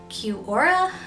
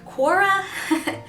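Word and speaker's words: Quora: on a website called Q Ora or Korra there is some debate on how to pronounce that but either way I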